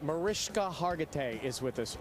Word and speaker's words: Mariska: Mariska Hargitay is with us right now. It's spelled ska, but it said sha, if you ever see her out at a Cheesecake Factory near you.